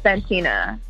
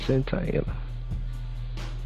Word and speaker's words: Santyna: You definitely said my name wrong. Dang. Yeah, it's Santyna. Santyna. Wow. Mm-hmm. Mm-hmm. See, I knew to say that, but it just came out Santyna.